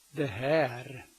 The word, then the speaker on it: det här: Det här. Det här. In everyday speech you drop the T in det här.